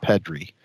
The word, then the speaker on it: Pedri: It's actually pronounced Pedri.